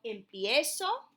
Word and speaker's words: empiezo: So, yo empiezo, tú empiezas, okay, the IE. Él, ella, usted empieza. And notice how it sounds. Empiezo. You're pronouncing both the I and the E.